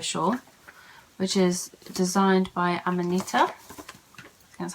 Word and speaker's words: Amanita: The first one I have to show you is the Yuko shawl, which is designed by Amanita.